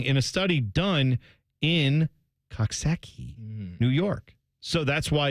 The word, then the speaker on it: Coxsackie: all one word and they thought you may not know how to pronounce this you might be thinking like cocki or what is it what do you